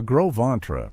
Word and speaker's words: Gros Ventre: The Gros Ventre, pronounced Gros Ventre, meaning big belly in French, were